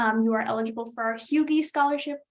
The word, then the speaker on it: HUGE: are eligible for our Hugie scholarship, spelled huge, pronounced Hugie, due December 1st, which is our full ride opportunity.